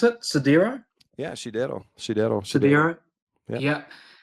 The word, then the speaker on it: Sidero: How do I pronounce it? Sidero.